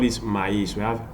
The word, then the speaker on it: maïs: We pronounce the O different, but the E different. Noël. You have another example. We have maïs. Look at this, M-A-I-S, maïs.